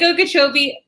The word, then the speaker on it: Okeechobee: So your district includes the Caloosahatchee River, parts of Lake Okeechobee. I definitely pronounced that wrong. What was it? The Caloosahatchee River and the Okeechobee Lake. Lake Okeechobee and Caloosahatchee River. Correct.